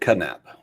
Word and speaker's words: Knapp: nap or is it kadnap i i think it's nap i think the k is silent like knife it's knapp anyway is